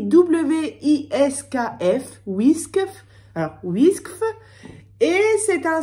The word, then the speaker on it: Wiskf: Ça s'écrit W-I-S-K-F, Whiskf.